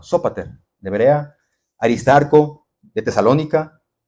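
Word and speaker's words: Sópater: Fíes, el primero de ellos es Sopater, la de Berea. Sóater, perdón, el acento en la O. Sóater de Berea.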